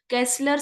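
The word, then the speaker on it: Kessler: is called castle syndrome ये देखो केसलर syndrome कहते हैं हम इसको स्पेलिंग इ के ई एस एस एल ई आर केसलर syndrome केसलर syndrome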